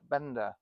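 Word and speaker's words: Benda: But then you got these new Chinese companies like Bender and people like that that are coming on. I mean, it's terrible name for a bike, but it's spelled B E N D A.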